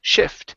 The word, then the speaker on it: shift: Give me a short I instead of shift. Okay, it's shift. To help farmers shift to growing legal crops.